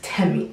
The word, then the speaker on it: Temi: It's Temi.